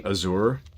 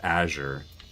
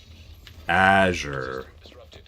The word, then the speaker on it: Azure: I've embraced saying Azour at this point, but I'm 99% sure the corre the correct pronunciation is Azure. Azure.